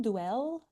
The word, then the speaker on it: Duél: And even though there is no stress in in French, but it's pronounced with the stress on E. I think it's dwell then.